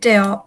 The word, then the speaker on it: deal: Not a big deal, except it was a little ugly to look at. Okay, yeah, but remember, not deal, okay? Oh, Not a big deal. deal. It's a long E sound.